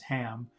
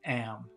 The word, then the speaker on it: Ham: her nephew's name is ham but uh some people especially in the UK don't pronounce H's very much so instead of saying ham she's saying am am to play with